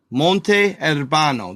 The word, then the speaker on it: Monte Urbano: Monte Urbano. That's how he was pronouncing it.